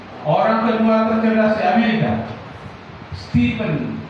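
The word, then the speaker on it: Stephen: Stepen ya tulisnya stepen bacanya stepen. E A dibaca I.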